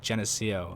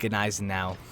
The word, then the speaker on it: Gneisenau: I remember the first time I said it, I tried to say like Geneseo. I don't know. It's pretty shit. Pretty shit pronunciation. But I think Gneisenau. Gneisenau.